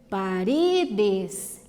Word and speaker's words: paredes: Então, ó, despacito, despacito, paredes, essa é igual no português, né, ó, paredes, laberinto, também é como no português, laberinto, penúltima sílaba mais forte, não é a última mais.